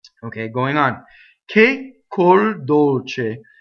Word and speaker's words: dolce: going on que corre Dolce K cool Dolce I doubled the C notice how I did it it wasn't a hard doubling it was just a little space Dolce closed Oh sous-sous